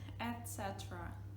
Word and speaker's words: etc.: They would just pronounce, you know, the letters. So basically we say etc.